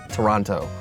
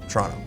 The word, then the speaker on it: Toronto: When I say it to non-Torontonians, I will enunciate Toronto, all 3 syllables. But really, among locals, it's Toronto. Toronto. Toronto.